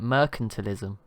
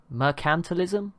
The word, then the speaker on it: mercantilism: other day and i've learned that i've been pronouncing it wrong the whole time so i i was just calling it mercantilism but apparently it is now forgotten how to say mercantilism like emphasis on the can't so sorry about